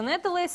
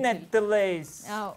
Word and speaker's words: Нэтэлэйс: В гостях у нас Тимофей Крохолев, никнейм его произносится Нетелейс. Это начинающий исполнитель. Нетелейс.